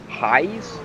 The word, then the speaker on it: Hayes: Behind him in the 96 is Carl, I believe you pronounce his last name, Hayes? Yes, that is correct.